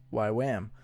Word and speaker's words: YWAM: a good base directors it's a weirdly pronounced acronym actually why W am pronounced why Wham so that stands for